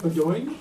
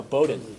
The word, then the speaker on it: Bowdoin: The first by Michael Franz of, am I going to say this right? Bowdoin? No, Bowdoin. Bowdoin, okay. I mispronounced Waukesha County yesterday, so I can't get on anything past the West Coast.